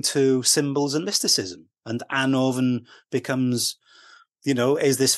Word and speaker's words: Annwfn: I got told by Christopher Hughes that it's an orphan not Anon and um I before that I always pronounced it Anon um because that's the way